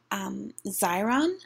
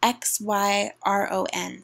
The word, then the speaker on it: Xyron: I'm going to be reviewing the Teresa Mega Runner, which is made by Xyron, I believe is how you pronounce the manufacturer's name. It's spelled X-Y-R-O-N, so I think that's Xyron.